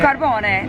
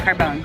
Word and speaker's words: Carbone: So how do you say your last name? Because I tried to say it earlier. Carbone. No, it's Carbone.